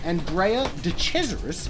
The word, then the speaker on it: Andrea de Cesaris: pretty heroic stuff and jay the treasurer is andrea de cesaris if you want to say his name correctly